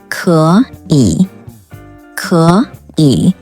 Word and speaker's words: 可以: The rule is, when there are two consecutive third tones, the first third tone should be pronounced as a second tone, which means third tone plus third tone transforms to second tone plus third tone.